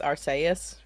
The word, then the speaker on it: Arceus: Do you say Arceus or something or Arceus? Yeah. Actually, it's Arceus.